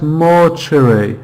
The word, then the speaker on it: mortuary: Yes, mortuary. Mortuary. So in the second syllable is the schwa sound.